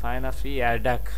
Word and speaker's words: Fijne verjaardag: হ্যাঁ ফাইনা ফিয়ারডাক, ভারডাক না, ভারজাডাক না, ওদের উচ্চারণ হচ্ছে ফাইনাফিয়া ফাইজিন। আমরা যদি উচ্চারণ করতে যাই ফাইজিন হয়ে যাবে, কিন্তু ওরা ফাইনাফি বলতেছে।